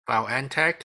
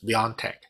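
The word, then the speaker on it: BioNTech: and then on january 27 i bought bnt x year because of some positive news regarding bioentech and also the p e ratio of oh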